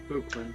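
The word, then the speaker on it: Buchman: Henry's portrait of Buckman and his defense of Buckman, is that the right pronunciation, Henry? Buckman, yeah.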